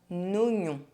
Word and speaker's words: oignon: Un oignon. En Allemagne. 8. Silent U. The letter U is not pronounced when it's between the letter Q and another vowel.